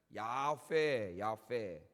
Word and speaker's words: 야훼: 원래 여호와라는 말은 없다 그랬죠. 자음만 읽으면 야훼. 야훼를 발음하지 않으려고 했기 때문에 그 사람들이 그 히브리 말에는 주님, 주인이란 아도나이라는 말이 있어요. 아도나이, 주인. 그 아도나이 밑에 있는 모음을 갖다가 야훼라는 자음에다 붙인 거예요.